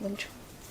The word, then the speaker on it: Wing Chun: Wing Chun.